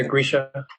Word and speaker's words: Grisha: Grisha, is that how it's pronounced? Yeah, Grisha.